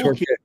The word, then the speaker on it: Torquay: Torquay or Torquay?